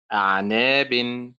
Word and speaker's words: أعناب: كذلك كلمة أعناب، أول الكلمة أعنا يعني الموضع الذي درسناه الآن، طيب آخر الكلمة ناب، إذن أعناب. النبر هو هو على نفس الحركة.